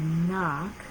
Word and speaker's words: knock: So those who are starting to read can see this word, knock, is spelled K-N-O-C-K, but we don't say that K sound, we just say knock.